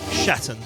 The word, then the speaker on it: Schatten: I think this is German, so you got to bear with me here. I think it's pronounced Shatten. SCHATTEN.